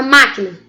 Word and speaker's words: máquina: A palavra máquina. Máquina, é a última? Não. Penúltima? Não. É a antepenúltima.